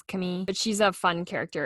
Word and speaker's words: Camille: be a gay storyline, her name's Camille. I think that's how they pronounce it. It's spelled like the American Camille, but I'm pretty sure it's Camille.